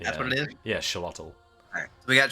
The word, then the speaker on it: Xolotl: Yeah, Xolotl. Alright, so we got Xolotl next.